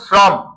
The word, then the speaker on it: শ্রম: গেছে তারপরে রস্বীকার ক্লিয়ার এখন শ্রম লক্ষ কর এই শ্রম স এর সাথে কি ফলা আছে র ফলা স্বাধীন স হইলে তালব স অন্যথায় রফলা থাকলে কোন স দন্তস তাহলে শ্রম রফলার ভিতরে একটা অ আছে এই বলতো শ্রমের সাথে শ্রম এই শ্রম এখানে একটা অ আছে